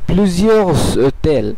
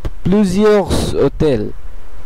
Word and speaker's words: plusieurs hôtels: উচ্চারণ করা হবে এবং এস এর সঙ্গে এই ও এর একটি সংযোগ স্থাপন হবে।